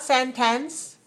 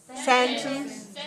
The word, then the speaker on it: sentence: sentence last sentence not sentence sentence second syllable weak short not sentence sentence see look in your mirror look in your mirror strong and then weak I'm not sentence but